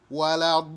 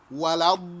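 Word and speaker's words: ولا الضالين: Wala-dallin. Double the lam. Wala-dallin. And stretch that vowel sound at the end.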